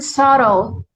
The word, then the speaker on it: subtle: The synonym could be the word subtle, understated, or subtle. Subtle, S-A Subtle. SUBTLE. S-U-B-T-L-E. Subtle. LE. Yeah. Oh, چه سلام سخته. B رو یعنی B is silent. آره B is silence.